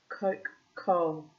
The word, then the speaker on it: Kokhol: Kokhol, not to be confused with Coca-Cola, but sounds similar actually.